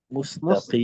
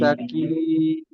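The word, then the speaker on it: مستقيم: পরিবর্তনটা হবে এক আলিফের জায়গায় তিন আলিফ টানবো, মুস্তাকিম। মুস্তাকিম।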